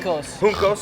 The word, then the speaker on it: Juncos: Juncos. The J is silent.